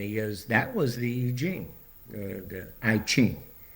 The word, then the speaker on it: I Ching: And he goes, that was the I Ching, the I Ching, pronounced I Ching.